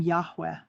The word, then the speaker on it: Yahweh: KVK or YHWH became Yahweh, which though pronouncable mimic the sound of a breath with the first syllable done on an inhalation, sounding like Yah and the exhalation sounding like way.